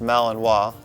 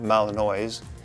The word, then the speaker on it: Malinois: with the fact that it's pronounced malinois not malinoise they are one of